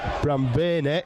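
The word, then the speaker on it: Brambani: heckenberg and Damen B are the forwards Dominic Bram benay I've been told is the correct pronunciation Adam haes Jordi Sharif and Dan Nars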